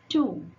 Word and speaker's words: two: Two. Two things. Sort. This W is silent.